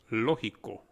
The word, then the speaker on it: lógico: Logical becomes lógico. Lógico. The G, if you notice, is pronounced more like an H.